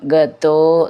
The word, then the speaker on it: ഗതോ: അങ്ങനെ ഗതോ പ്രത്യേകം ശ്രദ്ധിച്ചോളൂ ഈ ഗത എന്നുള്ളത് ത എന്നാണ് അതിൻറെ ഉച്ചാരണം ഗതോ എന്നാണ് ദ എന്നാവരുത് ഗതോ നിജാംബാം ദീർഘം മുർക്കം